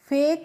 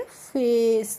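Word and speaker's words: face: तो देखिए एफ ए सी ई है तो एफ ए सी ई को हम क्या पढ़ेंगे? फेक नहीं पढ़ेंगे। इसको हम पढ़ेंगे फेस। क्या पढ़ेंगे? फेस करके पढ़ेंगे।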